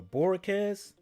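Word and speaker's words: Bojorquez: Corey Boyorquez? Or Borquez with the silent G 3 punts for 155 yards, averaging 51.7.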